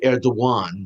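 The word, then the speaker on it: Erdoğan: Turkish President Recep Tayyip Erdogan, and it's pronounced, by the way, Erdogan, not Erdogan. It's spelled with a G, but there's a slash, which in Turkish means it's a W.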